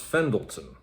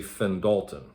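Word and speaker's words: Fendalton: i wanted to say no no that's pronounced fendleton but the computer program wanted wanted to say fenn dalton if anyone has run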